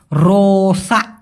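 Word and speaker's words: rosak: নষ্ট এটাকে বলা হয় রোসা রোসা অনেকে বলে লোসা ইনি সোডা লোসালা কিসের লোসা রোসা রোসা মেশিন নষ্ট হয়ে গেছে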